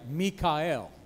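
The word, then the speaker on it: מיכאל: Mikael. Mikael. You know, if you know any Michaels, you're pronouncing the name wrong. Si usted lo pronuncia así, at least in Hebrew, Michael is Mikael.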